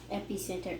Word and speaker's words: epicenter: So when you see that prefix, usually it's pronounced epi. Epicenter.